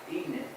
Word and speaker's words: Ihnen: It's Ihnen, And it's pronounced Eden. Ihnen. Eden.